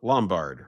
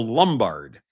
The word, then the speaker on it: Lombard: Lombard, remember those names, or as as we say in Chicago, Lumbard. I don't know why we do that, but I don't know why we pronounce Lombard like Lumbard. It's l o m, not l u m, like lumbar vertebrae.